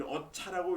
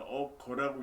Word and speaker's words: 어거: 이 어차라고 읽으면 안 됩니다. 어거라고 읽어야 돼요.